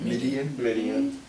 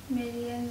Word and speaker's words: Midian: Midian.